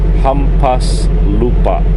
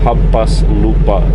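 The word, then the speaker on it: hampaslupa: just it's kind of weird pronounce but it's pronounced humas Lupa 6 it's all one word it's h a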